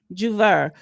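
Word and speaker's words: J'ouvert: So anyway, this Juneteenth Juvenet. I guess that's how you pronounce it. Jouvert. Okay. Juver.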